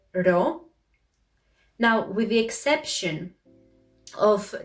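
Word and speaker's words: ρο: sound the sound ro the problem is that this letter resembles a lot the letter p and they think that it produces the same sound for example they may say posa instead of rosa so just keep this in mind this is actually the greek equivalent of the letter r and for the p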